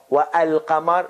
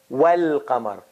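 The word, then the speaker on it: والقمر: There's no wa al qamar, no, wal qamar.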